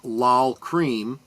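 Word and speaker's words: Lol Creme: The music video for Rocket uh directed by the duo of Kevin Godley and I believe that's pronounced L Cream uh featured robotlike movable sculptures by Jim Whiting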